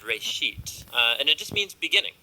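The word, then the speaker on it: רֵאשִׁית: Genesis comes from a Hebrew word, it's pronounced Reshit, and it just means beginning.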